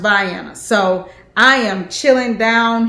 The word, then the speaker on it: Vienna: and a georgia baby it looks like vienna austria vienna but it's pronounced by anna so i am chilling